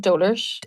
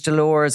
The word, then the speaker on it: Dolours: name she pronounced it doers so she pronounced it so they pronounced it correct on the because I always thought it was Dolores or whatever so it's anyway doar she pronounced doar yeah price but here